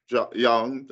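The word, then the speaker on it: Jung: words were Advanced by Carl Young or John people Bianca j-u-n-g for those of you who may have a different pronunciation who is a Swiss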